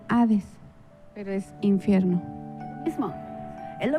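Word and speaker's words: ᾅδης: se pronuncia ceoe y en griego se pronuncia a dis eres infierno mismo es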